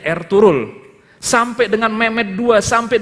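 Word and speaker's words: Ertuğrul: Bacanya Ertugrul.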